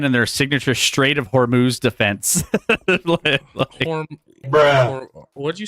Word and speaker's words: Hormuz: But it's Hormuz. Don't worry about it. Strait of Hormuz pronunciation. Okay. Yeah. Hormuz. Hormooz.